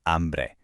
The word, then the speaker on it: hambre: Tengo hambre. And there's our silent H rule popping up one more time.